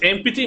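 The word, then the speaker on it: empty: इसे एम्प्टी मत पढ़ना, एम्प्टी है ये, है ना, एम्प्टी है, पी साइलेंट है इसमें।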